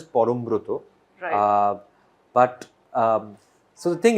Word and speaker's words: Parambrata: to explain to them so in Bengali it is pronounced as Forum Bruto but um so the